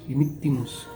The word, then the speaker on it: dimittimus: Cuando encontremos dos consonantes seguidas, no se pronuncia como una exageración, pero sí se puede pronunciar la primera consonante completa y la segunda a mitad de camino.